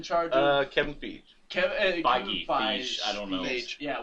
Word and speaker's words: Feige: Kevin Feige, I don't know. Feige. Yeah, we're terrible with Feige. names. But It looks like it's spelled like beige. I'm So I'm going to say the way Kevin that they Feige.